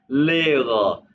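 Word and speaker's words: Lehrer: है आप टीचर है क्या जी जिंड जीड लेगा लेगा यानी कि टीचर इसको इसको आपने ले र कहना जम वाले प्रोनाउंस करने का तरीका है लेगा लेगा जी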